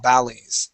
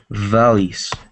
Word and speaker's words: valleys: of your reading uh when you came to the word valleys you pronounce that with a B sound saying Bales all right but yes uh the other times you had a v okay you pronounce that V perfectly fine okay but let's practice this anyway the word is V valleys try that please valys great excellent